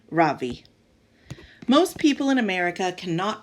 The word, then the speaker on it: Ravi: first name is Ravi it's pronounced Ravi with a soft raw and a strong v in Sanskrit it means the Sun in America people call me Ravi with the stress on the first syllable that doesn't mean anything